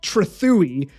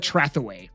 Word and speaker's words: Trethewey: Well, actually, it's pronounced Trethewey, but I just hate the way that sounds. So I call it Trethaway, right?